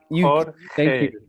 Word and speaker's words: Jorge: George. Jorge. You're muted. I can't hear you. You're muted. Jorge. Okay. Jorge. Okay. Okay. Imagine a horse eating hay, and you just pronounce this first syllable. Easy. Jorge.